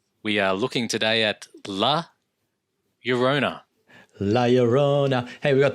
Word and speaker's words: La Llorona: The only way I know how to, or not how to pronounce it, but how to rhyme it is by thinking my Sharona. Yes, I love it. Or Corona, my Corona. My Corona, correct?